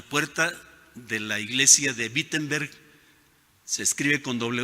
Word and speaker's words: Wittenberg: hermanos en la puerta de la iglesia de wittenberg se escribe con doble o se pronuncia con b